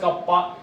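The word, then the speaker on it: κ: Pronounced as कप्पा।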